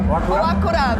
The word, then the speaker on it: Oakura: Oakura, very good pronunciation.